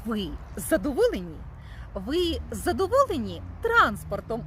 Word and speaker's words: транспорт: Тож транспорт. Наголос на перший склад - це засіб для перевезення, чи то людей, чи то багажу. А транспорт - це банківський термін. Це дійсно пересування грошей в межах банку.